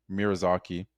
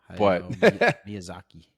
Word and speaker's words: Miyazaki: Miraaki. I I probably butchered his first name. Yeah. Miyazaki.